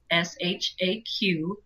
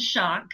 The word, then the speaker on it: Shaq: Iraq, and I said shock. Oh, no. And she said, well, this chapter that you just posted is great, except that his name is pronounced Shaq.